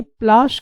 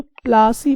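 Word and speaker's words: पलाशी: बनती है और ये प्लाश के पौधों से बनती है। तो जो प्लाश है तो उस प्लाश को सही से वो प्रोनाउंसिएशन अंग्रेज नहीं कर पाए, इसीलिए वो प्लासी बोल दिए, प्लाशी को प्लासी बोल दिए।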